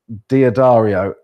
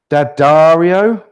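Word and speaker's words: D'Addario: Roto yellow electric strings cool I'm a now dadario D daro somebody told me the other day that I pronounced it wrong when I when I was calling the strings diod Dario and it apparently it's dadario but they're the ones I use xl125s Mike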